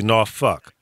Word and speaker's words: Norfolk: No, it's actually Norfolk, but it's well, the world's largest naval base.